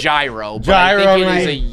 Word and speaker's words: gyro: know like a lamb i think it's zero i thought it's like a soft g i i i i i can anybody else in this room confirm it's i would call it gyro oh you are trash